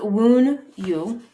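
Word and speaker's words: Wunjo: So this is Wun-yo. Yo, I think. W-O-O-N capital and then Y-O. Wun-yo. Wun-yo. But it's spelled W-U-N-J-O.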